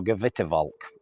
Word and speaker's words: Gewitterwolk: This monada is called Gewitterwolk, or Gewitterwolk, I've been told, is how it's pronounced.